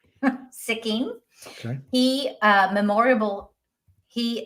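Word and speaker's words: Sikking: sure and bring them on so if I'm pronouncing this right James sicking s i k k i n g sicking okay he uh memoriable he memorably starred as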